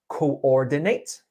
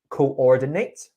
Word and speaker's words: coordinate: One more word that had a slight word stress error was coordinate. Coordinate. Coordinate. You were saying Coordinate. yes, it's 4 syllables. Coordinate. You were saying coordinate. Oh, Coordinate. So you were actually missing the coordinate.